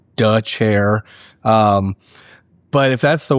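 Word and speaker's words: Dethier: It is pronounced duh chair.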